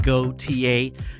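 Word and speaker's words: Gotye: And his stage name is pronounced Goautier.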